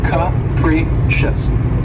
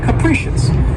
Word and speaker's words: capricious: capricious and this word has three syllables and the stress is on the second syllable and keep in mind that first syllable has that schwa sound that c capricious capricious and if someone or